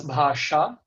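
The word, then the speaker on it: भाषा: uh, So in Sanskrit it is pronounced as bhasha. So it is. It has changed a bit from in Thai.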